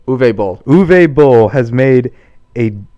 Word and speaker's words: Uwe Boll: Uwe Boll.